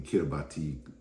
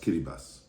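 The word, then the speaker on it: Kiribati: in the Pacific in Vanuatu Fiji and in kirati pronounced kiribas and I learned a very painful slogan while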